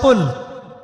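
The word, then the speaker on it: قُلْ: শব্দের অর্থ হচ্ছে বলুন কিন্তু আপনি যদি কফ এর মাখরাজটা ভুল করেন এবং কফ না বলে আপনি ছোট কাফ পড়েন এবং কুল না পড়ে আপনি কুল পড়েন বলেন যে কুলহু আল্লাহু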